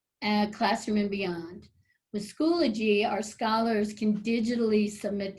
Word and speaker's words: Schoology: the left is called schoology like eulogy that's how you pronounce it schoology it's a remote learning